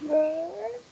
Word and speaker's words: vert: How did we pronounce green in French? Have a look in the Skype chat in the history. Green. How do you say green in French? Vert. That's right, vert. We didn't pronounce the T, did we? Because it's a silent T.